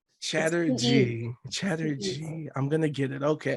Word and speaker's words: Chatterjee: only shandrima chatter Jay did I pronounce the name right first and foremost you were so close no please tell the people please tell the people the people Sandrina you can call me shandrima uh Chatterjee Chatterjee I'm gonna get